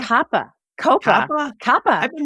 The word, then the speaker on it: COPPA: COPPA is another one that it technically applies to school system Wait, that's how you pronounce it? providers. Not COPA? COPPA.